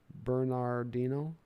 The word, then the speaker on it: Bernardino: out big old left-hander with a five-syllable last name bernardino bernardo dino bernardo dino